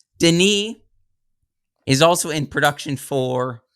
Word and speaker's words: Denis: And they also, he specifically, the director, Vinny, is, am I saying his name wrong? It's Denis.